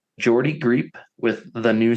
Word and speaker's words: Geordie: pronounce his first name it's spelled like Georgie but with a d Jordy GP with the new sound Jordy greep is an English